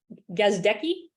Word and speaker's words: Gazdecki: talk with um uh how do you pronounce your last name gazdecki great Greg yeah gosdeki uh usually when I'm on vodcast I literally